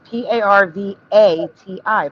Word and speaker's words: Parvati: Oh, maybe it is a No, it's P A R V A TI. Parvati, not Udy.